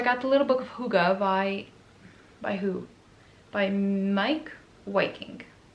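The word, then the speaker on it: hygge: I got the little book of, I always want to say Hig, but supposedly it's pronounced Huga. But so I got the little book of Huga by who?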